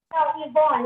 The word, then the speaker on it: Yvonne: No, Yvonne. It's not Ron, it's Yvonne.